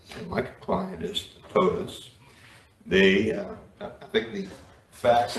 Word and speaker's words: Toa: Whenever you're ready, sir, and would you please tell me the correct way to pronounce your client's name? Toda.